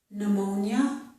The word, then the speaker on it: pneumonia: Also, I've written the word pneumonia. This word starts with P-N. Whenever we have a word that starts with P-N, we do not pronounce the P.